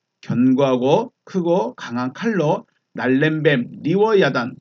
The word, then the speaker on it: 리워야단: 야탄이라고도 부릅니다 이제 그 발음하는 곳에 따라서 발음이 좀 다르긴 해요 리브 아탄 리브 아단 또 리브 아탄 막